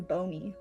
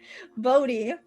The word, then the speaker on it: Bodie: He was the principal property owner in Boney. Bodhi. What did I say? Boney? See, I'm even getting the town name wrong. Bodie.